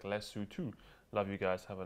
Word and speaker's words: Lesotho: show i have to say you guys are pronouncing los sotto terribly wrong it's pronounced like lesotho love you guys have a nice la hom